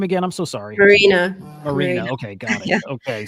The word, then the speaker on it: Maryna: Marina.